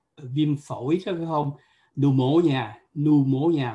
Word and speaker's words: pneumonia: phổi có phải không, pneumonia, mặc dù có chữ P phía trước nhưng mà nó không phát âm chữ đó.